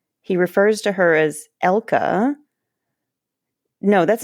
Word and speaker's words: Elke: The only person who comes close to the more German pronunciation is Miss Piggy, who says Elke.